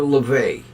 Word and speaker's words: Laufey: And then look for LaVey. But her name is spelled Laufey.